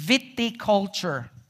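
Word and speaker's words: viticulture: and by the way I have to connect correct myself I mispronounce remember I said something about the the science or or this study or this branch of of uh of Agriculture that focuses on grapes it's witty culture all right Viti culture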